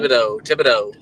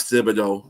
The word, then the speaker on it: Thibodeau: That it could be down to Thibodeau. Stop being a grammar school correct teacher. What? It's Thibodeau. We speak English here. We don't pronounce it like the French.